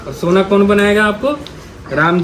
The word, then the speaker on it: राम: राम राम खाली नहीं बोला जाता, शुद्ध उच्चारण है रामा बोलते हैं ना, हरे राम राम राम कृष्णा कृष्णा, ठीक है, रामा बोला जाता है।